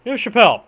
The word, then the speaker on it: Neuve-Chapelle: I believe it's pronounced Neuve, but I know it's Chapelle. Neuve-Chapelle, March 10th, 1915, so it's been a whole year in this war.